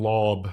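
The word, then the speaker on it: Laube: Yeah, I mean, first of all, I think it's Dylan Lob. Like the E is silent.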